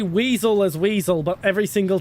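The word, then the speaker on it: Wiesel: But yeah, every single time I run into it, I pronounce it vicil for some reason instead of weasel No problem.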